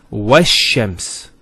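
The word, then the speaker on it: والشمس: Similarly, this lam is not pronounced either, because as we said, this is from the sun letters, and there's a shadda there. So it's wash-shams.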